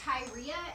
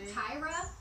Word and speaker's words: Tyria: I've heard her name pronounced both Tyria and Tyra.